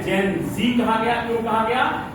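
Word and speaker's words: Gen Z: generation जेड को जेन जी क्यों कहा गया, तो अमेरिकन इंग्लिश में जेड को जी प्रोनाउंसिएट किया जाता है, जी, इसीलिए उसको शॉर्ट में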